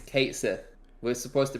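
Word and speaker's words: Cait Sith: So it's not Katshi or whatever the actual Irish Gaelic pronunciation is. It's just Kate Sith. No, it's not. It's Kate Sith.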